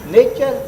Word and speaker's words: nature: तव्हांखे अंग्रेजी जो मतिलबु कोन ख़बर अथव हुनजो नटूरे जो कहिड़ो अंग्रेजी आहे हा साईं अंग्रेजी अखर आहे छा स्पेलिंग छा आहे साईं N A T U R E नटूरे NATURE नेचर छोरा इहो नेचर थियो नेचर को चई नटूरे